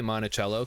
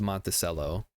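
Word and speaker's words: Monticello: up to monacell I always want to say monachello because that's how it should be pronounced but it's pronounced monell here in Minnesota uh cuz we were thinking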